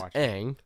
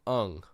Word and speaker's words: Aang: So his name's Aang. They call him Ung in the movie.